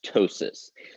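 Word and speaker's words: ptosis: in a minute this the p is silent this is just pronounced tosis this means drooping sagging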